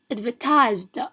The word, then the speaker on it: advertised: Advertised, because we have this Z sound.